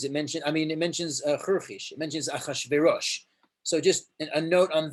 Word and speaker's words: Achashverosh: So we add an aleph before just so you can breathe. You go, Achashverosh, Achayarsha, or Achashverosh.